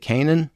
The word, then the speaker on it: Cannin: So let's talk about this awesome verdict that you and how do you pronounce Sherie's last name? Is it Cannin? Yeah, Sherie Cannin.